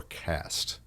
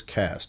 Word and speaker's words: caste: stuff this how is cast see a s te how is that pronounced yeah cast cast okay it's like you got a cast on your leg but it's spelt with an e so yeah we're learning